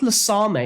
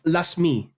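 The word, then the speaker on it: Lasme: Also, it's not Lasame, it's Lasmi. Lasmi, you're in as well.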